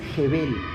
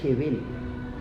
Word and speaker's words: hebel: versión La palabra es jebel con h se escribe evel con h y b grande h e b e l evel pero se pronuncia jebel con j evel jebel esa es